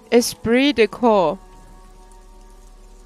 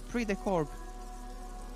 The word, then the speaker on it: esprit de corps: do i pronounce what esprit de ko oh yeah it's pre-decor you don't you don't you don't read t and you don't read s well no half right